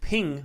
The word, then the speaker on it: PNG: guessed jpegs are rasterized PNG pronounced ping files are also rasterized